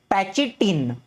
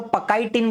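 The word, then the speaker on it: pachytene: अभी पैचिटीन, पैचिटीन बोलो, पकाइटीन बोलो, पचाइटीन, आपको जैसे प्रोनाउंस करना है कर सकते हो, मैं इसको पैकिटीन कहता हूं।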